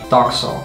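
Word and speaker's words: takso: Doxo. Whoa, really? Yeah. Doxo. Doxo. That's really different. Kind of similar, kind of different. So people are like taxo, taxo.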